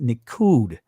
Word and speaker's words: nikkud: let's get a proper understanding of what not quad or in the israeli language is pronounced nikkud let's see what it